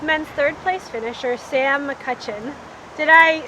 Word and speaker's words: McCutcheon: I'm with men's third place finisher Sam McCutcheon. Did I say your name right? Yeah. Most people chuck an L in there, and McCutcheon, but no, you nailed it. McCutcheon.